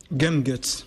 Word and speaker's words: Gumguts: a pas d'ocitane non ça serait plutôt prononciation à l'anglais si on veut oui